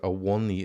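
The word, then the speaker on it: Awoniyi: is by the way awani is Tara says a one knee is how you say it um I don't know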